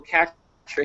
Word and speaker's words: CAPTCHA: going to need to basically interpret this little captcha here. Did I pronounce that correctly, Victor?